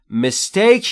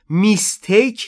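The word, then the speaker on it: mistake: برای مال شما مست مستک یعنی اشتباه تلفظ درستش رو دقت بفرمایید مستیک نیست مستیک اشتباهه مستیک تلفظ ای در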